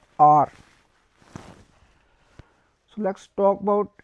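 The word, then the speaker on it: heure: So to R we will say R, R, H-E-U-R-E, R.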